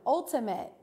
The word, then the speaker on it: ultimate: Ultimate. Ultimate. 3, 2, 1. That's right. Ultimate is that I sound.